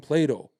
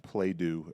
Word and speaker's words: Plato: study what they had when people were Geniuses Plato's we we learned from Plato right we don't we study Plato we don't study the blue guy my housekeeper keeps calling it play do and now my two-year-old thinks